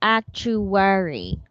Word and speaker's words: actuary: this is actuary yes no okay actual actuary so it's like act true that's how you pronounce it Yes actually no again actually worry